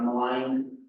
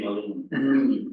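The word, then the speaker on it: Maligne: Following on that, we have some updates from our partners at Parks, the Malign Lake Road. Did I pronounce that correctly this time? Typically, we would say Malin.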